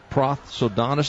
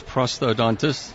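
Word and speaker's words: prosthodontist: SS he is a pro sodon I know I pronounced that wrong and we'll have him do it the right way Dr s thanks for joining us oh you're welcome yeah it's prosto dontis that's right he did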